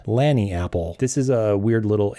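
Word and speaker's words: lagniappe: it it's Landing Apple it is derived from a creole word uh Lani app it's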